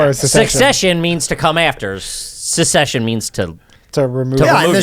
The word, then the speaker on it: secession: the tv show yeah you're saying it wrong i can't say where it's succession succession secession no secession yeah like they want to secede from from their parents like civil war yeah